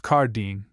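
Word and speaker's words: El Jardín: called the garden or Eljardan pronounced Kardine and where the natives appeared to be more intelligent than any he had yet seen.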